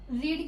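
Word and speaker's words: read: यूज होता है और रीड की थर्ड फॉर्म जो है वो रेड होती है जिसको हम सेम ही तरीके से लिखते हैं रीड की ही स्पेलिंग में आर ई ए D same ठीक है बस इसको प्रोनंसिएशन हम रेड करते हैं सो लेट्स कम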